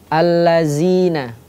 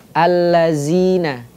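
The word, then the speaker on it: الذين: berubah menjadi seperti ini contoh ada satu kata alladzina alladina atau di ayat yang lain ya ayyuhalladzi terbacanya seperti itu yang awalannya pengucapannya itu adalah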